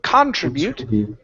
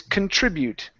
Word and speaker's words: contribute: Instead of contribute, it's contribute. Contribute.